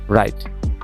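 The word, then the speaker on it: write: তাহলে কি হবে এখানে রাইট।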